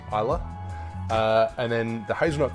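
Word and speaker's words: Islay: pull me pull me up for calling an ilay whiskey it is pronounced Isa uh and then the hazut component comes from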